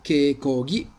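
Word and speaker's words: keikogi: i tir con ippon quindi che chi diventa che cochi che cochi eccolo che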